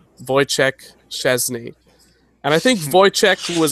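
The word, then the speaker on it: Szczęsny: It's got a little bit of an accent that goes up and down very quick. So it's Szczesny.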